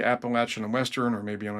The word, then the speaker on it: Appalachian: I was like, I hope they don't say Appalachian in Western. I hope they say Appalachin in Western.